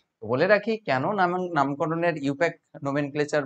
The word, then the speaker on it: IUPAC: উনারা হচ্ছে তৈরি করেন তোমরা এটা যখন উচ্চারণ করবে ইউপ্যাক বলবে ইউপ্যাক ইউ প্যাক বলবে এরকম